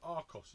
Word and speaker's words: Archos: This is an arch which I was quite excited to see the name Archos or Aros as a lot of people in America seem to be pronouncing it.